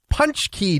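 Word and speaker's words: pączki: It is National, and I didn't know how to pronounce this at first, but it is basically a jam buster donut. Can't wait. It is, and I looked it up. It is National Punch Key Day.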